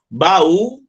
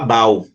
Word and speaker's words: baú: Baú, não separou o U. Se separou, o U está sozinho, tem que receber um acento no U, porque senão eu vou falar bau.